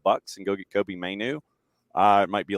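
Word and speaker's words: Mainoo: Is that how you spell it? Mainu? Yeah, Kobe Mainu.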